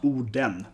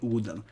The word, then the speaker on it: Oden: So if you read old Swedish, like Odin, it's pronounced Oden with an E. So in modern Swedish, we call it Oden.